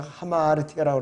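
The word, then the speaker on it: ἁμαρτία: 헬라어의 원래 의미는 발음 자체가 하마르티아라고 그랬고 화살을 시위를 당겼을 때 관역에서 빗나가 버리는 거예요.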